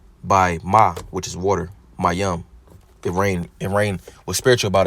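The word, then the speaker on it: מים: Ma comes from the root word Mayam, pronounced Mayam, which means water or sea.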